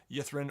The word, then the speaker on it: Ythrin: and continue exploring the city of yethren or etheren if you're wanting to pronounce it correctly which you should not